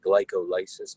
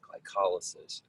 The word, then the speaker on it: glycolysis: It looks like glycolysis, but it's pronounced glycolysis.